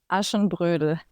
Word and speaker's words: Aschenbrödel: but Drei Haselnüsse für Aschenbrödel? Yeah, that Or, was very good. is it Brudel or Brodel? Aschenbrödel.